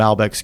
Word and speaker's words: Malbec: Huge fan of Malbecs. Oops, sorry. You got your glass. Malbecs? What's the... Malbec. I mean, there's, both ways are acceptable to pronounce it.